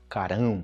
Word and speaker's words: carão: ou dar um carão não confundir com a pronúncia de carro grande né um carrão dois R Carrão carão Carrão carão gravei um vídeo também